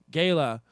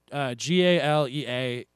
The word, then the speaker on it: galea: The Romans were wearing these gala. It's Galea. Y'all can tell me about the pronunciations.